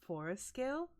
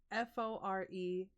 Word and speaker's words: forelskelse: my Danish language, but I believe it's forescale. Like, I think that's how you say it. It's Forelskelse.